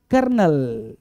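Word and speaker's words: colonel: अगला पॉइंट है देखो इसको बोलते हैं कोलोनल है ना कोलोनल बोलना गलत होगा है ना कोलोनल बोलना गलत होगा बोलेंगे क्या कर्नल कर्नल भाई साहब आर तो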